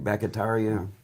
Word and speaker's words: Bakhtiari: David, how do you pronounce his name? Bakhtiari, and Devontae Adams, Charles Woodson, and Julius Peppers.